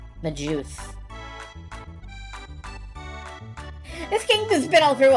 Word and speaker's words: Magus: A lot of people pronounce the name Magus with a hard G, despite the word Magus being a soft G. Magus.